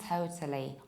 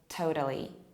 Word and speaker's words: totally: It's total and totally, or in American accent, total, totally. It's an analogical pronunciation to global, globally. Again, you can imagine that you round it, that you make a round movement. Global, globally, total, totally.